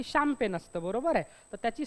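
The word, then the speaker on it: champagne: मग त्याला आपण काय म्हणतो शामपेन काय म्हणतो शामपेन असं म्हणतो म्हणजे स्पेलिंगचा आणि उच्चाराचा दुरून-दुरून असा काही संबंध नसतो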